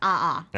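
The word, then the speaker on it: 아아: So if you say it quickly, it just sounds like one syllable. Ah, which is ah da. It kind of kind of sounds dumb actually to be honest. But if you see the spelling, it's a a da. Yeah. So two a's like ah ah.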